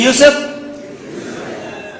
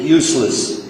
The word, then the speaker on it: Yusuf: Can you say Yusuf? Oh, they got it right the very first time. MashaAllah, my wife still pronounces it useless.